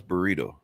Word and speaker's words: burrito: How the hell did I mispronounce burrito? Burrito. You need to. Got to roll those R's, Rob.